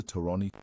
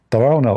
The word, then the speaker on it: Tarawna: Tarani, Mohammed Tarani's permission. Mohammed Tarone. This The funny Ali Dawah, he do not know how to say the name. Tarawna obviously is a Jordanian name.